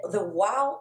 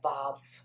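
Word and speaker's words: וו: The wow is a more antiquated pronunciation for what is commonly known now as the vav. All right, so it can be a wow, it can be a vav, but I choose to go with the wow. Actually, I give my students the choice. Do you want to pronounce this as a wow? Do you want to pronounce it as a vav?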